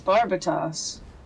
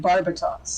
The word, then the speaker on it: Barbatos: I was making y'all this is barbatos Barbados the country is over the Deep ah and we were talking about Barbados they were pronouncing it barbatos I mean I was pronouncing it barbatos because that's the machine it's what the machine is called I I understand I